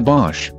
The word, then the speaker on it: Bosch: The CR Best Buy was a Bosch. I think they picked a brand name that rhymes with posh to sound like a premium brand.